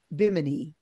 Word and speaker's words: Bimini: We should, you know, they just opened up, let me pronounce it correctly, Bimini in the Bahamas.